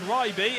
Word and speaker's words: Ryby: I've made the mistake before of reading his name wrong, but it's Ryby in around the 10th place.